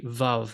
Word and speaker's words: Vav: it's going to be Vav, the, and that has to do with the way the Hebrew is spoken in the Holy Land. It's pronounced, the W's are pronounced as V's.